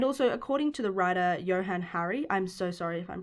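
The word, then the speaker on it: Johann Hari: alcohol sales and also according to the writer johann harry i'm so sorry if i'm pronouncing that wrong it's spelt j o h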